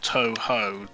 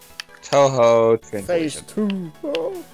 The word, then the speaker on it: Touhou: something like that yeah but she split into the two syllables of toho then it's probably two it's probably something different touhou she has like no